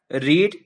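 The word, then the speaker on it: read: पढ़ना का होता है रीड इसका सेकंड और थर्ड फॉर्म होता है रेड रेड यह तीनों फॉर्म में स्पेलिंग सेम होता है लेकिन इसका सेकंड और थर्ड फॉर्म में उच्चारण रेड होता है तो यह हो जाएगा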